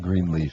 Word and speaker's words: Greenleaf: If you've just joined us, we are talking with Greenleaf. And, I am horrible at this, but tell me I'm pronouncing your last name correctly. Green leaf. That's it.